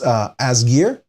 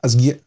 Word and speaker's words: Asgeir: It's this Asgeir, I believe it's pronounced, or at least that's how I pronounce it in Danish, right? I'd call it Asgeir, so something like that, but most people don't do the glottal stop, you know.